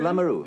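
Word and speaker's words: Lameroo: That's how you say it, Lamoureux. Lamoureux, that's mm-hmm.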